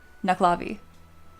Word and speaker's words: Nuckelavee: Knucklavi. Oh, yeah. I'm saying knuckle. Like knuckle. Yeah. You don't pronounce the second e.